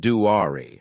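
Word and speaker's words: Duare: They saw Duer, pronounced Duari, and pursued her.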